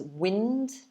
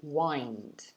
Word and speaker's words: wind: So the first one I showed you about like the weather is wind, but the other one, the verb, is wind, like this.